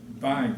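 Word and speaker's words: Bueg: The fellow there who came to do it was a young man, and his name was B-U-E-G. Bug, right. Bug. I asked him because I wasn't about to pronounce it bug.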